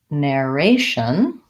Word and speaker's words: narration: air narrate first syllable then we have narration second syllable stress so already a change narrate versus narration I'm gonna stretch out on the a so I still have the same sounds but my a is long and my other sounds are short then I have narrative back